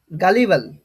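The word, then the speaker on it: gullible: ঠোকানো যায় ঠিক আছে তখন সেটাকে বলা হয় গালিবাল কি বলা হবে তখন সেটাকে বলা হয় গালিবাল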